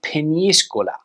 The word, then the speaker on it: Peñíscola: But the Spanish pronunciation is Peñíscola.